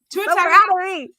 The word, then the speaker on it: Tagovailoa: Tua Tagovailoa.